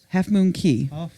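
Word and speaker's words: Half Moon Cay: CA Y as how they spell it but it is pronounced key we learned that in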